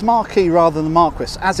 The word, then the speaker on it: Marquis: name of this hotel they tell me on the front desk its JW Marriott Marquis although spelt Marc Chris now Marquis is the French pronunciation of Marquess which means no woman now in English we pronounce it Marquess which is actually in